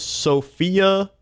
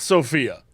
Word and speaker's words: Sofia: Sofia, not pronounced like the name, Bulgaria. So not Sophia.